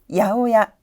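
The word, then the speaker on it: 八百屋: 발음은 다 같이 해볼까요? 야오야, 야오야.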